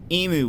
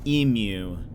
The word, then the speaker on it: emu: Yesterday I learned that apparently Americans say emu weird. Aussies say it emu.